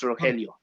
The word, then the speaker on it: Rogelio: Rogelio? Yeah, the G is an H, so it's Rogelio. Rogelio.